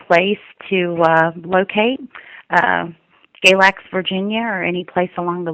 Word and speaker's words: Galax: In Galax.